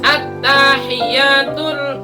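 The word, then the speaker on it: التحيات: Di atas ta ada tasydid, di atas ya juga ada tasydid. At-tahiyya, at-tahiyya. Salahnya yang ini yang error harus diservis. Oh, salahnya bukan motor kayaknya, bukan. At-tahiyyatul, at-tahiyya di atas ta dan di atas ya.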